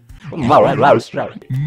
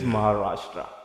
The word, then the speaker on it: Maharashtra: You know, I can't pronounce it. Maharashtra. Maharashtra. Yes, it is Maharashtra.